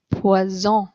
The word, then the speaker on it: poison: for poison, it's pronounced poison. If you have one S in the middle of a word, the S is pronounced like a Z, z, poison, poison.